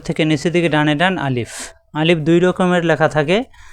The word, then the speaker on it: আলিফ: আলিফ দ্রুত উচ্চারণ করতে হবে, মুখের খালি জায়গা থেকে উচ্চারণ।